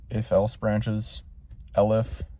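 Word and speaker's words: elif: Lif. I learned that it's pronounced L if not ELF.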